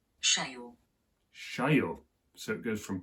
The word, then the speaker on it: cheio: the screen now, and the pronunciation of that word would go something like Cheio.